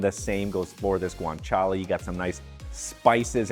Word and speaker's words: guanciale: If you read it, it looks like guanciale, but it's pronounced guanciale. Say it with me, guanciale.